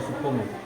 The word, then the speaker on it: Soepomo: Kenapa Yuri cara penyebutannya nanti bacanya Profesor Dokter Soepomo sampai salah langsung saja Dokter Supomo ya Profesor Doktor Soepomo